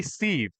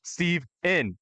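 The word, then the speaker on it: Steven: It just like was like nails on chalkboard whenever someone was like hey Steve. I was like that's not my name. Say it properly. Put the N on it. Steve N.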